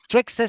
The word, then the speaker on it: Thraxas!: And we have I don't I hope the pronunciation is good. Traxxas uh with an exclamation mark. Traxxas. Traxxas.